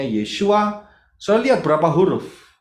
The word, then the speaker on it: Yeshua: Kemudian, Sang Putra itu bacanya Yod, Shin, Waw, Ayin. Bacanya Yeshua.